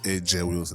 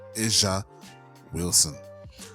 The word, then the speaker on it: A'ja Wilson: they've been calling her Asia Wilson. That is not pronounced AJ Wilson, it's pronounced Asia Wilson.